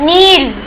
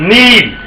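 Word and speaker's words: kneel: भूलना forget forget next नील घुटने टेकना ओके के एन ड ई एल के साइलेंट नील नील नेक्स्ट श वेरी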